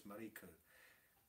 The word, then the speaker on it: Mariko: It's not Marco, it's Mariko.